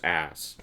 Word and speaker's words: arse: I keep forgetting in Britain, you guys say arse rather than ass, but you pronounce arse ass.